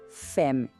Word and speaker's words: femme: E a palavra paraa mulher fem. Percebe como o som sempre para antes da letra e final?